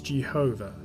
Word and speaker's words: Jehovah: is used for adonai the best guess so far as the pronunciation of the tetragrammaton is concerned is jehovah or yahweh the problem with these